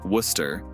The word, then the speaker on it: Worcester: not lachester it's leicester same with worcester becoming worcester britain's language history is amazed and we'll get